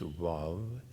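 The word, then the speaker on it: וו: The sound of vav, because the vav is wav, actually, in the original pronunciation, it's wav, and then wah, and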